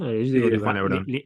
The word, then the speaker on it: Lebrón: Yo Sí, digo de Juan Lebrón. LeBron, como LeBron James.